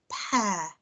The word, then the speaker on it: pear: yesterday so i've got pear here and i've got a pair of socks over here and this one is spelt with the ear trigraph but we know that it makes the air sound pear and this one over